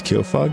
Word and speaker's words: Kyofug: All right, to reiterate, my name is Kofug. That is spelled K Y O.